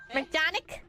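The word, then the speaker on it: McJannek: McJanic? Yeah, McJanic. Yeah, that's how you pronounce it, McJanic.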